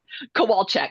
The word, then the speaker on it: Kowalczyk: How do you say your last name? Kowalchek. Very Polish.